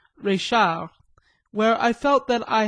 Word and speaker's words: Reichhardt: establishment of Madame Reichhardt, pronounced à la Française, Reichard, where I felt that